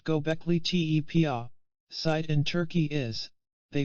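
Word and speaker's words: Göbekli Tepe: to find out how old the gole te pronounced gockley te site in Turkey is they followed an established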